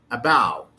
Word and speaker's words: about: in the previous word about about about about i didn't say about about actually the first syllable the first syllable is weak the second syllable have the stress and you would find